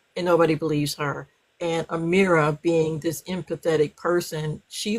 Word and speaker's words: Amira: Is that how you pronounce it? Yes. Amira.